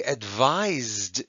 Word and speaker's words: advise: And the one that's spelled with an S actually has a Z sound, advise, okay?